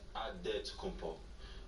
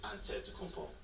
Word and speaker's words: Antetokounmpo: In the Greek way, you gotta say with a D, so it's Antetokounmpo. But in the Greek way, you say with the NT, like Antetokounmpo.